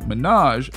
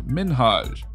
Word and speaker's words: Minhaj: She said his name like Minaj instead of Minhaj.